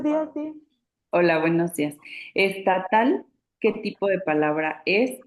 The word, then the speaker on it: estatal: porque la última sílaba es la que suena más fuerte, es la sílaba tónica, estatal, ¿no? Si fuera grave diríamos estatal. Ujú.